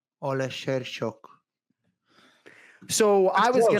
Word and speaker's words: Oleksiejczuk: That's close. He says like a chook at the end. Right. Michał Lord Oleksiejczuk. Oleksiejczuk.